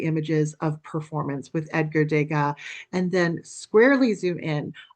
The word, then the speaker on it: Degas: Now, I'm pronouncing it DGA, of course, because he was born in France. He was a Frenchman.